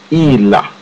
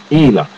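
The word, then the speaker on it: إله: Now, the Arabic word for God, the common noun for God in Arabic, is Ilah. It is not the word you have there. And Ilah is spelt Aleph Lam Ha. Ilah.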